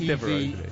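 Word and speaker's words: Devereux: Is it Devereaux? Yeah. It's something, I'm maybe mispronouncing it. It's got an X in there somewhere. Yeah, no, it's Devereaux. It is Devereaux.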